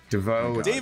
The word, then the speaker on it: Devo: He mispronounced the favorite band of the person who made Mixtape in his review of Mixtape, saying how good it was. DeVoe makes it sound fucking like French or some shit.